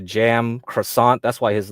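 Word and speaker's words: Cem Karsan: him up okay and I think his name is mostly pronounced closer to jam croissant that's why his like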